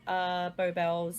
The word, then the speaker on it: Belles: Social media _Beau Bells. So Beau spelled Beau, and Bells spelled Belles. Because everyone always asks the spelling, how to say it.